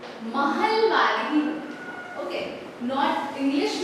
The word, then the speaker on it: महलवारी: English में इट इज ए, ठीक है, महलवारी। ओके, नॉट इंग्लिश में हम वैसे लिखते हैं स्पेलिंग, लेकिन इट इज महलवारी, ठीक है।